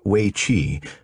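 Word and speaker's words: weiqi: lee strategies is in waichi pronounced weichi roughly meaning encircling game more commonly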